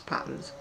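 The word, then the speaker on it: Patons: It's a Peyton's book, or I pronounce it Peyton's, by the way. I know people are a bit confused as to whether it's patterns.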